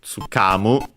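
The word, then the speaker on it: 掴む: to understand, to comprehend, and its accent, so tsukamu.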